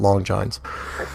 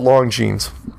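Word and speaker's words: Longines: long jeans witnaur hour I'll give you the pronunciation I know I called it long johns it's called long jeans and witnaur yep describe the show see the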